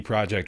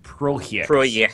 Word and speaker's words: Projekt: CD Projekt. Oh, Projekt. Projekt. My bad. Oh, wow, you guys are being so racist. That's Polish pronunciation.